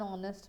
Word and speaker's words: honest: This is because of the way the consonant H is pronounced here, okay? So it is pronounced as R, ire, and honest. So when we make such sounds, when we pronounce it, it is basically giving a sound of a vowel.